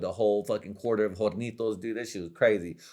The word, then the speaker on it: Hornitos: You don't pronounce the H.